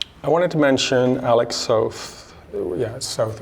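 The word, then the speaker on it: Soth: Um, I wanted to mention Alex South. Yeah, South rhymes with both.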